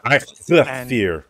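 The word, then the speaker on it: Eikthyr: It's a Ikthir.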